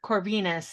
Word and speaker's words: Corvinus: and um how do you say your names corvinus is that right corvinus yeah Venus Yeah Yeah so basically I learned